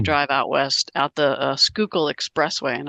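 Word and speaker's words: Schuylkill: out west out the skookul expressway and I I've pronounced it for you so you know um local call it the sure kill distress way but it's called the skookul Goes By The skul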